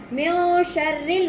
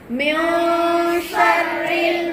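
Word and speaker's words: مِن شَرِّ: மின் ஷர்ரில் வஸ்வாசில் கன்னாஸ நாம எப்படி ஓதக்கூடாது அப்படின்னா மின் ஷர்ரி அப்படின்னு செய்யக்கூடாது. அந்த நூனே இருக்கிறதே தெரியாம மறைச்சு நம்ம என்ன செய்யணும் இன்ஷா அல்லாஹ் ஓதணும். இப்ப எப்படி நீங்க உச்சரிக்கணும்? மின் ஷர்ரில் வஸ்வாசில் கன்னாஸ். புரியுதுங்களா?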